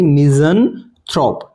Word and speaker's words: misanthrope: क्या प्रोनाउंसिएशन हो जाएगी इसकी भी हमारी, मिज़anthrope, मिज़anthrope, मिसोजिनिस्ट, राइट, मिसोजिनिस्ट। इस तरीके से ऐसे इसको बोलेंगे हम मिज़anthrope।